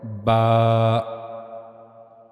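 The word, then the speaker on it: باء: As you can see here, we have to use our inner sides of the lips.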